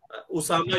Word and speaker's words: उसामा: है, ओ नहीं होता, उसामा के स्पेलिंग ओ से नहीं होने चाहिए, यू से होने चाहिए, क्योंकि ये लफ्ज है उसामा, हम अलिफ यानी कहते